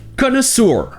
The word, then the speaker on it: connoisseur: Tout d'abord, vous avez le O qui se prononce O, et ensuite c'est censé être 2 fois le son E. Connoisseur. Oui, ici le OI se prononce juste E. Connoisseur. Mais comme on l'a vu, beaucoup d'anglophones vont prononcer le EU comme OU, ce qui donne connoisseur.